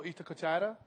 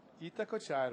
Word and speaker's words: Itacoatiara: You're saying it different now, man. I swear you had more of a cooch about it. Itacoatiara. Okay. We'll get some Brazilians up here to verify my perfect Portuguese pronunciation. Yeah, that Look would at be this perfect.